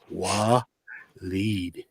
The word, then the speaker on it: Waleed: i always call them oily oiled oil and he's like dude no it's pronounced wah lead walid or wallet that